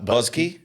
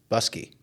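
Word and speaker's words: Buske: And then, uh, Buzzky. Buzzky. B U S K E. Yeah. Okay. Yeah. Busky. Busky. Yeah. I was hearing buzz.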